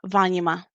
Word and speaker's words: vanima: But if this vowel is short, like in Vanima, we stress the third to the last syllable. That's why we say Vanima.